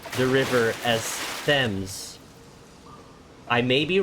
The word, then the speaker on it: Thames: I've been taught to pronounce the river as Thames.